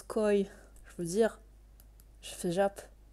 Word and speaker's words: Koei: i deluxe non mais je sais que koei ça se prononce coy je veux dire je